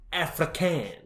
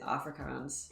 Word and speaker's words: Afrikaans: sounds relatively similar so i'm gonna go with afrikan and is that how you pronounce that hopefully i'm not offending anyone i think it's off afrikaans afrikaans i'll go with afrikaans uh and you're right that is correct it is afrikaans i'm a genius all